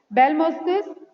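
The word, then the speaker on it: Abelmoschus: अब भिंडी का साइंटिफिक नेम है एबेलमोस्कस, ए साइलेंट होता है बेटा, इसमें ए साइलेंट होता है। बेलमोस्कस एस्कुलेंटस, ठीक है, बेलमोस्कस esculentus, lecture over।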